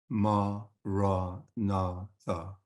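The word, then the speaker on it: Maranatha: And just to remind you, for its purpose as a mantra, we recommend saying the 4 syllables with equal stress. So we pronounce it ma, ra, na, tha.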